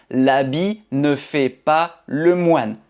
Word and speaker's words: l'habit: Donc on ne prononce pas le t. L'habit ne fait pas le moine.